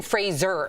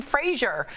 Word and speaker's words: Fraser: So it's Brendan Fraser. Yeah. Like Razor. Right, and then I watched the Adam Sandler interview. He kept calling him Fraser.